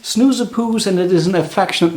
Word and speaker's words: Snoezepoes: called snoozepoose and uh for those who do not understand dutch or don't know how to pronounce it here it is explained particularly for those pronounced snoozapoos and it is an